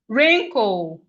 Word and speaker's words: wrinkle: We have wrinkle. Wrinkle. The W in wrinkle is silent. We have wrinkle. The W in wrinkle is silent.